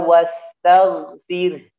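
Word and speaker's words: وَاسْتَغْفِرْ: Demikian pun ya di sini. Wastaghfir, tidak boleh wastaghfir, tag tidak boleh. Wastaghfir ya.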